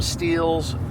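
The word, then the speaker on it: Stihl: saw from still steel still s TL we call them stills some people call them steals I don't know the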